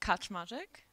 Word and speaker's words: Kaczmarzyck: My last name is Kaczmarzyck. So it's like, it's actually kind of funny because no one can pronounce. Is this on? it's like saying Kaczmarzyck with like a bit of an accent.